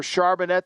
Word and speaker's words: Charbonnet: And when you have a back like Kenneth Walker or Charbonnet that they drafted from UCLA, I think that's how you say his name, Stormy. Charbonnet, yeah.